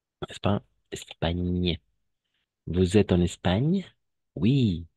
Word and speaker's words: Espagne: La seule remarque ici, attention, GN toujours, on va prononcer comme un ñ. N'est-ce pas? Espagne.